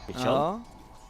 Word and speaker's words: Michel: Oh, Michael? Michel. Michel? Yeah, sorry, yeah, I forget. For people that wonder why I call him that, apparently his name is pronounced Michel in Bolivia.